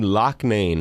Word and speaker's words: Loughnane: moment to check in lis Locke Maine writes at the pronunciation that is exactly correct very good trumpet flugelhorn